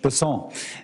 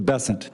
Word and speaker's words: Bessent: Bessent, I'm always going to pronounce your name as if it was in South Louisiana, and I'm going to pronounce it with a French Bessent as opposed to Bessent. That's what those folks in South Carolina do.